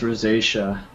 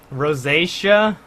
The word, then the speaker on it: rosacea: don't know whatever Dave apparently it's pronounced rosacea rosacea yeah ugh okay but um